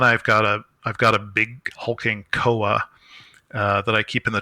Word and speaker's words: Kowa: Um, I actually like to say kawa, uh, but I don't think it's how it's pronounced.